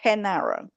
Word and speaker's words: Genaro: Yes, he's pronounced Genaro.